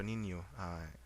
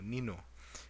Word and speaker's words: Niño: So an example, like the word Santo Niño, without the squiggly mark, you would actually say Santo Nino, but with a squiggly mark, it's Niño.